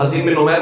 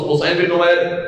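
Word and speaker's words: حصین بن نمیر: حسین بن نمیر ہو, جسے بعض لوگ حسین بن نمیر پڑھتے ہیں, اصل تلفظ حسین بن نمیر سواد سے لکھا جاتا ہے.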